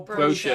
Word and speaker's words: brochure: Brochure. Brochure. Doesn't rhyme. But it does when I say it.